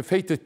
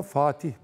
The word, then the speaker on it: Fatih: oku yani tamam yani bana birisi ismi Fetih dese dönüp bakmam bile doğru konu Fatih düzeltim Fatih yani Adam şöyle bir